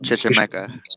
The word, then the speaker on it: Chichimeca: It's pronounced Chichimeca.